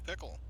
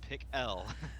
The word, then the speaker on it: Pickell: Outside pole, Joshua Pickle. Or Pickell. Make sure I pronounce that right. Yeah, he just sent me a message today. It is Pickell.